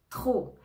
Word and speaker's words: trop: très froid trop trop attention ne prononce pas le P trop ça indique une quantité